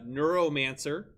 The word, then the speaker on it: Neuromancer: case our options are a dune b uh neuromancer c the ghost in the shell did i